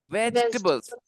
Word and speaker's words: vegetables: At home, do you eat a lot of vegetables? Vegetables. At home, do you eat a Yes. lot of vegetables? Guys, we do not say vegetables, okay? Vegetables. The E after G is silent. It is vegetables.